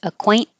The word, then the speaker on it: acquaint: the T so you don't have to say the T acquaint this is like Mountain um casual the Z